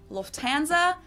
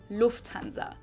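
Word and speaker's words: Lufthansa: flown with them before in English people usually say Lanza but in German we say Lanza so the emphasis on the first syllable Lanza versus Lanza and that was the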